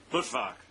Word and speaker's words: Luttwak: How does he pronounce his name? Luttwak.